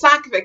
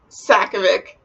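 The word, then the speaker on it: Sakavic: I know it's Sakovic now. If you watch any of like my other Off the Game like videos, I think I pronounce it strange and not correct. So yeah, Sakovic.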